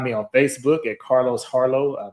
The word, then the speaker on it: Harleaux: You can find me on Facebook at Carlos Harlow. My last name is spelled Harleaux.